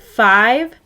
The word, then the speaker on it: five: is hiking five miles the word five has a silent e that's telling the i to say its name try writing five on